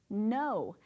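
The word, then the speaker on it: know: No has the K-N-O-W. That is completely different than the word when we cover it up and have just N-O, right? We have this silent letter of K.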